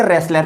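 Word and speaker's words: wrestler: झालर wr3d एपीएल CR यहां पर डब्लू को साइलेंट करके रेसलर पड़ते हैं जबकि रेसलर में डब्लू लिखा जाता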